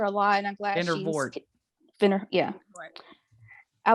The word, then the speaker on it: Vandervoort: Vanderhoot? Yeah. Yeah. I liked her a lot, and I'm glad Vandervoort.